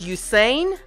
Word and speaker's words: Usain: I'm going to say that his name is pronounced Usain Usain Bolt is his name yep Usain Bolt that